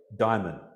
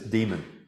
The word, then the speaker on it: daimon: And she says, a great daimon. Daimon is the the Greek pronunciation. We probably should pronounce this demon.